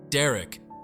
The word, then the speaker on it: Derek: down first Derek Derek Derek sounds like Derek rhyming with Eric easy right now the